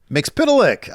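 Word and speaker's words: Mxyzptlk: Mix Pitilik.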